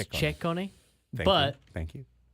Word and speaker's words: Ciccone: in Karate Kid 6 as the villain, Slade Ciccone, maybe Ciccone, depending on how the announcers go with it. In Italian, we would call it Ciccone. Ciccone, but which is different than Ciccone. Ciccone. It's Ciccone. Ciccone.